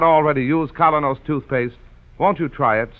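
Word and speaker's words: Kolynos: Keene is broadcast to you by Colonos Toothpaste.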